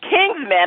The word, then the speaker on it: Kingsmen: Okay, so I did pronounce the name wrong. It's Kingsmen. I saw King's M3N, so I just assumed it was M3N.